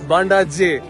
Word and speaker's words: Bandaje: I have mispronounced it. It's not Bandage Falls. It's Bandai J Falls.